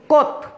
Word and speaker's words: Comte: আগস্ট কিন্তু একটি মাসের নাম, এটা বলবে অগাস্ট কোত। COMTE, অগাস্ট কোত। বানানটি একটু জটিল বিধায় আমি তোমাদেরকে এটা ইংরেজিতে লিখে সহায়তা করলাম। তাহলে অগাস্ট কোত, COMTE, কিন্তু উচ্চারণ হচ্ছে কোত।